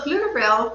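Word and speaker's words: Pflugerville: How did you get involved with Dallas at Flugerville? Yes. So flutterville for anyone that's hearing it really starts with a PF and so the P is silent.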